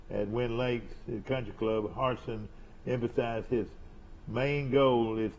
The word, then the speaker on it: Harsin: How do you pronounce that last name? Harsin.